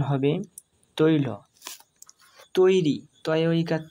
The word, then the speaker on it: তৈরি: তৈরি, তয় ঐকার তৈ, রয়ে হস্যই রি, তৈরি, অর্থাৎ তয়ে ঐকার যোগ হয়েছে, তয়ের সাথে ঐকার যোগ হয়ে তৈ হয়েছে আর রয়ের সাথে হস্যই যোগ হয়ে রি হয়েছে, সেই জন্য এর উচ্চারণ হবে তৈরি।